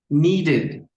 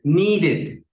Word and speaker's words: needed: Entonces, recuerda, cuando el verbo regular en su forma base termina en T o en D y lo queremos pronunciar en pasado, que se le agrega ed, va a sonar como it. Esto lo vas a encontrar como así, it.